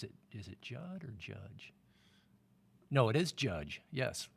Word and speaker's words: Judge: Judge his name is Judd not Joe uh wait is it is it Judd or judge no it is Judge yes oh interesting rhymes with fudge judge yeah it is